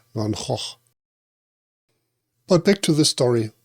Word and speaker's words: Van Gogh: In Dutch it should be correctly pronounced like Van Hoch.